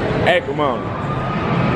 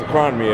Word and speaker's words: Acrimony: I thought it was a crime to me at first.